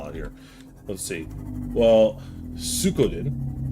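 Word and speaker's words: Suikoden: here let's see well suen pronounced sodin oh D I'm terrible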